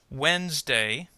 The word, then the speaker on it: Wednesday: let's check our answers Wednesday has only two the middle syllable kind of disappears simplify has three Oh